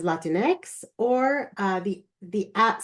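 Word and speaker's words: Latinx: Hispanic populations and so I add the letters a for Latin X to pronounce it as Latin X or uh the the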